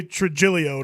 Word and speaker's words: Trujillo: They don't roll their G's or their R's. So we here. just say Trujillo to make it easier for people if you want to a say.